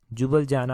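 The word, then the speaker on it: Ljubljana: जुबलजाना हो गया, जुबलजाना में इसकी कैपिटल है, परंतु जुबलजाना को लिखते ऐसे हैं, इसमें एल पहले लगाया जाता है, LJUBALJANA। एल जो है वो साइलेंट वर्ड जो है वो यहाँ पर है।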